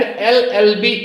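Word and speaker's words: LLB: एलएलबी student तो यहां पे प्रोनंसिएशन करते हुए जब हम एल बोल रहे हैं तो इसका पहले पहले जो लेटर का प्रोनंसिएशन आ रहा है वो वावेल साउंड से शुरू हो रहा है इसलिए एलएलबी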